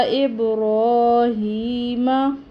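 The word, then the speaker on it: إبراهيم: अला इब्राहीम, रॉ को पुर पढ़ेंगे।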